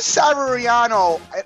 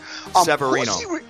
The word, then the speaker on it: Severino: Who is Severiano? If you haven't been pronouncing it right, Severino.